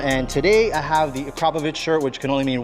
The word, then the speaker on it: Akrapovič: I am your host, David Nuspam, and today I have the Acropovich shirt, which can only mean one thing. We're going to be installing an Acropovich exhaust system on a car.